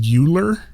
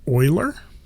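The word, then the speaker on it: Euler: looks like it says uler filter EU l e r it's actually pronounced Oiler but if we click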